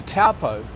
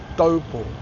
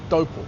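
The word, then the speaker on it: Taupō: And I just want to remind you that au is pronounced o. It's not pronounced ow. O. So people say, I'm going to Taupo, and then I might go over to Tauranga, and I come from Raumati.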